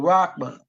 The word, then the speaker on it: Rahman: Rahman, they spelled it Rockman, but Rahman.